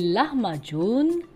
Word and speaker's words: lahmacun: compris ce sont les larmes à john donc ça s'écrit elle a à h m à c ur haine ça se prononce john à la fin ce sont des pizza